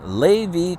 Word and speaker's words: Lévis: Flow added 3 stations, including a 6 stall in Lévis, Quebec, is how I understand how to pronounce it in French.